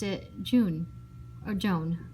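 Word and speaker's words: jaune: pronounced it june or joan like her name um dinkus josh said what's this got to do with anything don't you see guys dink said the french word for yellow sounds just like joan that's sammy's tutor's name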